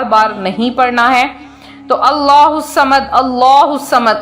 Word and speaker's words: اللہ الصمد: نہیں پڑھنا ہے۔ تو اللہ الصمد، اللہ الصمد، اللہ کے لفظ کو پر پڑھنا ہے صحیح تلفظ کی ادائیگی کے ساتھ۔ بعض کہتے